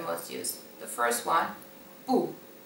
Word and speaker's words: 不: The first one, 不.